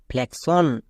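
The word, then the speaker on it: flexion: এর পরে ওন আছে ওন থাকার জন্য এক্স এর উচ্চারণটা হয়ে যাবে কস তাহলে দাঁড়ালো এফ এল ই এক্স ও এন ফ্লেক্সশন নেক্সট সাফিক্সশন এখানেও দেখো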